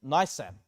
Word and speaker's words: Nisan: Esther chapter 3 verse number 7 says in the first month that is the month Nisan or Nissan should I pronounce it? Nisan.